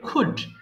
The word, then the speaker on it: could: করব কেমন তাহলে আই এটা কিন্তু কুলড হবে না অনেকে ভুল করে ফেলো বা অনেকে ভুল করে ফেলে কুলড বলে ফেলে উচ্চারণ হবে কুড আই কুড ডু আমি